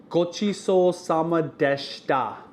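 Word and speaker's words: ごちそうさまでした: The way you say that is, gochiso sama deshita.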